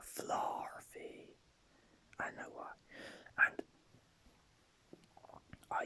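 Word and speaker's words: Flaaffy: Also, I used to pronounce Fluffy as a Fluffy, but Flarfy.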